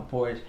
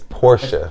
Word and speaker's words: Porsche: my next website i want to cop a porch so that's that's what i'm working towards right now well you gotta you gotta pronounce it right it's porsche porsche porsche oh my bad porsche i thought